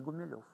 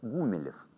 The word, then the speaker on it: Гумилев: фамилию в гимназии а его фамилия не гумилёв а то как ему не нравилось правильно говорить гумилев это поповское фамилия так называли на но